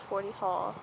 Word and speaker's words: Forty Hall: It's like, it's on 40 Hill, but it's called 40 Hall.